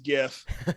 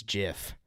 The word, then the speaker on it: GIF: I say GIF because I think the G stands for graphic.